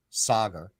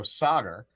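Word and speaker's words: Saagar: okay I'm gonna say it correctly this time Saga a lot of it he got called out on this talking about my uh pronunciation I wasn't trying to be insensitive I'm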